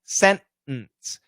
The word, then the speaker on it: sentence: centimeter the t's gone sentence we say sentence in this situation the t is not gone but we stop at